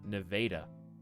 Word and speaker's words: Nevada: Iowa has a town named, well, Nevada, but it's actually pronounced Nevada.